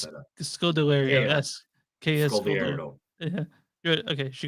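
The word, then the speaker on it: Kaya Scodelario: Kia Scodelario. Oh, Thank Scott. you. I knew I was gonna Kia mess that up. Scodelario. Kia Yes. Kia Scodelario.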